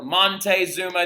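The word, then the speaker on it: Moctezuma: he's very very important it's mock moc t e zuma so makte zuma right machte or monte zuma depending on who you ask or how you want to spell it you can spell it either way it might pop up on the test as either or so if you see monte or mate it's the exact same thing okay but they believe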